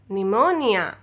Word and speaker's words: pneumonia: silent letter p is if a word begins with p s or p n then letter p will be silent okay now look at